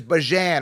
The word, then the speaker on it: Bijan: with bi jam and he said bijan's actually not the correct way to say it I think it's Bajan or something like that the way that his